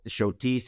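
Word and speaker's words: Schotis: to that we really love was Taberna L shotis it's spelled s c h o t i s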